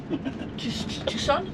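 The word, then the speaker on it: Tucson: On va en direction de Tuscon. Tucon. Tusonnes. Ouais, c'est comme ça que ça se dit.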